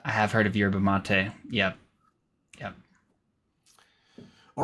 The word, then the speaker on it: mate: This is brewed like a tea, but it's not actually in the tea family, and it's called mate, which is spelled the same as mate.